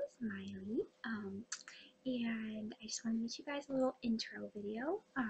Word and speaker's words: Maile: My name's Miley. It's spelled kind of different, as you probably saw in the title. may have been wondering how you even say that. It said Miley.